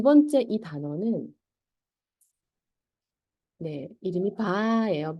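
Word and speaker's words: ب: 두 번째이 단어는네 이름이 바 예요 바 바네 바고 발음은 이제 우리나라 말의 비읍이라 하면은 미가 되겠죠 미 이것도 발음이 쉬워요네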